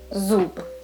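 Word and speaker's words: зуб: Okay, next one, zu, and the final sound b. Let's combine it. How do you say it? Zub, zub, which means a tooth.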